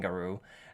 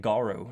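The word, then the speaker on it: Garou: how i was saying guru uh it's supposed to be garu apparently as some people wanted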